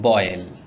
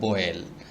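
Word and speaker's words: boil: মানে মানে বাধাই করা বয়েল আমরা অনেকে বলি বয়েল বয়েল হবে না শব্দটির সঠিক উচ্চারণ হবে বয়েল বয়েল মিন ফুটানো বাইট বাইট অর্থ কামড়ানো ব্লেন্ড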